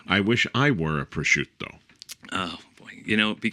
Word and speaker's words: prosciutto: And did I pronounce that right? Or did my lips crash? No, prosciutto. And sometimes you say prosciutto, casually.